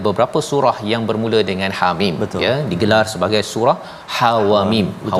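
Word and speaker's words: حم: Jadi Hamim ini cara baca dia iaitu ha itu tak ada harakat, mana ha baris atas ha jangan panjangkan, jangan panjang, ha tak ada harakat itu, Hamim, ha terus.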